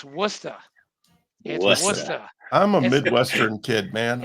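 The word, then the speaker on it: Worcester: in New England okay it's not Hey listen Worchester it's wora I'm a Midwestern kid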